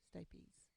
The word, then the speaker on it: stapes: incus and the stapes you pronounce that state these nuts tapes stay peas and you need to